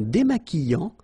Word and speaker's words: démaquillant: So we've got this QU, but then U is not pronounced. So you get the sound qui. Okay, and then remember, double L after E will give you the sound y. Démaquillant. Final T not pronounced.